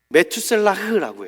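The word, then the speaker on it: מתושלח: 그 이유를 먼저 무드셀라의 이름에서 찾아보고자 하는데요. 이름에 그의 실마리가 있어요. 무드셀라의 히브리식 발음은 메투셀라흐라고 해요. 메투셀라흐. 이 뜻이 뭐냐면 창을 던지는 사람이에요.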